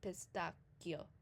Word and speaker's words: pistacchio: So whenever you see a CH and GH, it means that you would pronounce a hard C and a hard G. So for instance, what we call in English a pistachio, in Italian would be pistacchio.